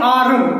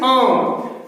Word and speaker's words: arm: हम साइलेंट रखेंगे क्योंकि R के बाद कंसोनेंट साउंड है, इसलिए R को नहीं प्रोनाउंस किया जाएगा, लिहाजा हम पढ़ेंगे आम।